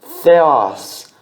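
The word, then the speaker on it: Θεός: Isso aqui é Theos, Theos. O que é isso? Significa Deus. Se escreve com TH, se lê com F, tá?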